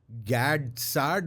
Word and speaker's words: Gad Saad: I saw you sitting, like you sat down with what's his name, Gad Saad. Yeah, Gad Saad, yeah. Is that how you pronounce it?